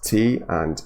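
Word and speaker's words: 他: So this is interesting, because both he and she are pronounced exactly in the same way. It's T and A in pinyin with the first tone, ta, and in spoken Chinese, I guess they're not distinguishable.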